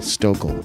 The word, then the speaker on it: Stokel: Oh, rhymes with local. Stokel.